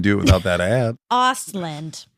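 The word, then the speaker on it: Östlund: Ostland. Ausland.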